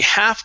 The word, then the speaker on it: half: You only had two parts, okay, so this is going to be she half contemplated sleeping. So a couple things. First up, the L is silent.